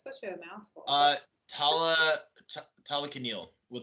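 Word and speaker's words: Talokanil: But Tala Talakanil with like yeah. So it's Talakan and then il at the end.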